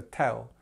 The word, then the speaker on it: tell: Now, it's nice and easy, this one actually, and the word or the pronunciation that we use is just eh. So tell.